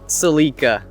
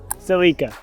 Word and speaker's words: Celica: How you would say it is Celica. Celica. There you have it. The anglicized version of the Japanese way of saying it.